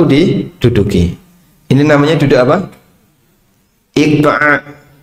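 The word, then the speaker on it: إقعاء: Iqa'a. Bisa diucapkan iqa hamzah. alif ya qof ain kemudian hamzah iq.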